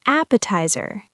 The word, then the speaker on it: appetizer: Next is appetizer. Appetizer. Four syllables, stress on the first.